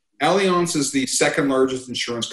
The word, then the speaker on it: Allianz: this whole thing Allianz some people call it Alliance but it's pronounced Allianz Allianz is the second largest